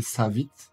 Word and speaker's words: Savit: Pour le prononcer Savit, d'après les devs.